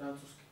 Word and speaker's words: Francúzsky: Francúzsky.